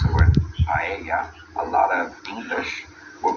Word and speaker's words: paella: You pronounce it somewhat like a Y, depending on what country you're from and everything. At least here in Spain. It's like when people normally pronounce the word paella, a lot of English will pronounce it paella.